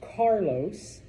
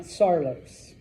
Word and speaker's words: Carlos: That's Carlos, not Sarlos.